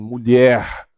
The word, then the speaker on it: mulher: Ele nunca é pronunciado no final de uma palavra por muitas pessoas. Então eu tenho colher, mulher, flor, cor. Que horror! Né? Então pronunciem mulher, colher, flor, cor, amor.